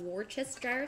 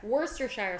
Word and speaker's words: Worcestershire: we also need one table two tablespoons of worcestershire sauce oh i said it wrong get worcestershire worcestershire sauce we've rehearsed this before worcestershire sauce fire